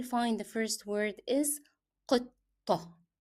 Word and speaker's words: قطة: the first word is قطة. You see how I pronounce the first 2 letters because they are 2 hard sounds. It is pronounced as قطة.